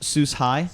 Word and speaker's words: Sus-Hi: right now yep and this is pronounced Seuss hi hi I love it sustainable